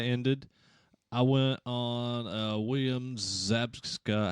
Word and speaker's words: Zabka: And since Cobra Kai ended, I went on William Zabka, how do you say his last name?